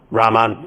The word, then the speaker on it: Rahman: Rahman.